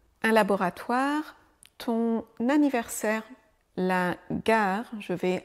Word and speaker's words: gare: Un laboratoire ton anniversaire la gare. Je vais à la gare. Les épluchures. Des mots où le e final ne se prononce pas.